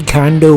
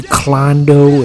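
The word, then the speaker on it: Kondo: And I guess they're not used to pronouncing anything Japanese, so they just got it completely wrong. They kept calling her Marie Klondo.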